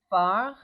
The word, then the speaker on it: phare: French phare in French sounds like far in pronunciation only.